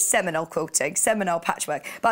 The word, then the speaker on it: Seminole: correctly simile semele quoting Semele patchwork I know Seminole Seminole that's a Seminole quilting Hanna says I